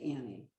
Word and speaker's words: Anne: it's a nne and i pronounce it annie and like her her